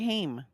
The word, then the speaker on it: Haim: Corey Haim. Corey Haim, that's right. Yeah. Oh, as a kid, I always said Ham too.